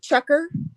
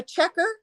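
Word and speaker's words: chukar: I've hunted Canada Canada geese and um uh chucker um turkey um doves go ahead what was before turkeys uh checker it's spelled c-h-u-k-a-r it's a a game bird that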